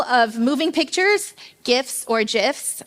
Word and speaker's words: GIFs: moving pictures gifts or gifs I call them gifs uh I will fight you about it later on for all those who say with a hard G sound and um we couldn't